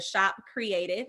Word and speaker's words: Kreadiv: And then for our creative gear, you can go to Shop Creative, and that is spelled KREADIV, and it's just the pronunciation .com.